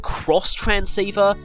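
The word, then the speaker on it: Xtransceiver: Do they remind you that it's pronounced cross transceiver? Japanese media tends to do that a lot, having an X pronounced as a cross.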